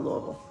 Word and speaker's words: Louisville: It's spelled like Louisville, but we call it Louisville. We pronounce it that way.